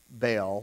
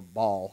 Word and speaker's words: Baal: that the canaanites had baal or ball however you want to pronounce it and it was a